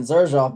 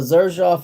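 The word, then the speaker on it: Xerjoff: And I mean, Zerjoff bottles are nice. They really are pretty nice. Yeah, I like this. Oh, Zerjoff is spelled with an X. It's X E R J O FF, but like the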